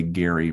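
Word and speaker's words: Gerry: to their family but they are insistent that gary is the way to pronounce it so let me raise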